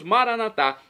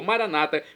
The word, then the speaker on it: Maranatá: E agora eu clamo do aramaico dialeto de Jesus, Maranatá, como dizemos nós católicos, ou maranata, como dizem nossos irmãos separados, os evangélicos ou protestantes. Não importa a pronúncia, o significado é o mesmo.